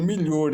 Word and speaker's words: Miglior: de Regina de Fátima Milor, eh, que é esse livro aqui, é aqui, ó, Miglior se pronuncia, escreve Miglior, se pronuncia melhor, é o nome italiano.